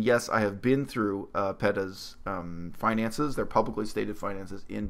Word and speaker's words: PETA: Ethical Treatment of Animals, PETA, or as some of you like to say, PETA, totally different organization. Those are two completely different organizations. Don't get them confused. Anyway, my preferred pronunciation is PETA.